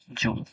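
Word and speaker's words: joule: এটার উচ্চারণ হচ্ছে জুল।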